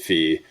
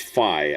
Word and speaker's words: Fi: Still hate the Fi isn't pronounced Fee.